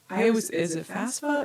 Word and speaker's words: FAFSA: Is it FAFSA or FAF? FAFSA. FAFSA. Really? FAFSA. FAFSA. And that's I say it like it's a FASFA, FAFSA, but it's really FAFSA.